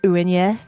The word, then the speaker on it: Uaine: Technically, it's like the actual pronunciation is Uaine, but like that is like not very.